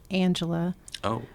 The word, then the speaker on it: Angelia: Now, my first name is actually pronounced Angela, but it is spelled Angelia.